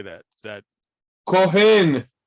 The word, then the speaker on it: Cohen: oh how do you say that is that kohen kohen okay priest right so Cohen can you see